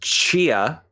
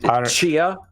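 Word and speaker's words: Tchia: i believe it's pronounced chia the t is kind of silent but not really chia yeah uh yeah this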